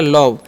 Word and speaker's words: love: तो हो गया लव। यानी कि लास्ट वाला ई का उच्चारण हम नहीं करते हैं।